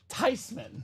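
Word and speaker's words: Theismann: V I think it's okay actually the correct pronunciation is tyman I'm starting to see why Joe tyman was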